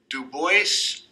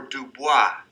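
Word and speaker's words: Du Bois: DuBois or DuBois, depending upon how you want to pronounce that. Most black people that I know refer to him as DuBois. There was a TV show a long time ago called, I don't know if it was called Benson. I think it was called Benson. And his name was Benson DuBois. So he used the French pronunciation.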